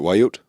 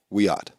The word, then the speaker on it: Wiyot: Because you said how do you pronounce it? Wayut? Wiyot. Yeah.